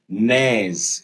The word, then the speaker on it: neigh: तो हॉर्स नेज। इस देखिए इसमें स्पेलिंग NEIGH है। दिस इज प्रोनाउंस्ड एज ने।